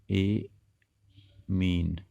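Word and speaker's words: ammine: एमीन एक आधा माँ और जोड़ दीजिए इसमें, ए मीन, AMMIN होता है इसमें अंग्रेजी में, एमीन उच्चारण करेंगे।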